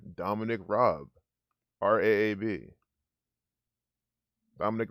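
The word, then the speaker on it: Raab: what's what's the uk's foreign secretary's name dominic robb r-a-a-b dominic rabb rob they might even just pronounce that rab over there i don't know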